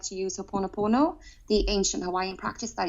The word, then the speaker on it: Ho'oponopono: Maybe the pronunciation's different from where we live. I don't know, but I pronounce it as Ho'oponopono.